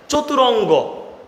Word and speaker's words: চতুরঙ্গ: ওকে, চতুরঙ্গ পারা যাবে ভাইয়া? চতুরঙ্গ, আমি বলছি র এর সাথে কিন্তু একটা অ আছে, এটা মাথায় রাখবো।